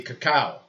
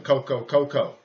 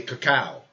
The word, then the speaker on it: cacao: That'd be cacao. Be correct. I grew up calling cocoa, but it's really cacao.